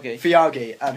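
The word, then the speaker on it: Feige: Kevin, how do you pronounce his last name? Fiagi.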